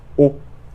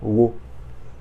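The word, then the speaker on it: を: Alors, le wo ici, en fait, il va se prononcer o et pas wo.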